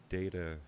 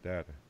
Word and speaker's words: Data: And apparently it's data, not data.